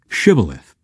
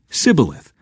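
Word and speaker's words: Shibboleth: I'm not they would tell him to say shth if he was from Ephraim he would say cilith because people from Ephraim cannot pronounce the word correctly then they would take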